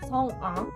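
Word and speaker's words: Sung A: Did you say Sung-ah or Sung-ah? Sung-ah. So more Sung-ah? Yeah, it is like more separately because A is like independent A, so like Sung-ah.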